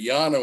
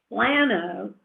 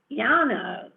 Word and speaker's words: Llano: And so that can even color the accent that you use, meaning Llano, if I go there and say Llano, it's not going to work.